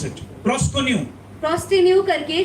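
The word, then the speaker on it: προσκυνέω: नियम में आते the word हैं, used is proskenu. जो शब्द नए नियम में इस्तेमाल हुआ है उसका मतलब है प्रोस्टेनु। That's how do you pronounce it? Proskonu.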